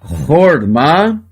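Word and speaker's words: חָכְמָה: Se você prestar atenção, nós temos aqui 2 palavras iguais. A única diferença da primeira para a segunda é este risquinho que eu tenho aqui, ó, esse risquinho chamado meteg. A primeira é a palavra horma, sabedoria. E a segunda é o verbo rahemá.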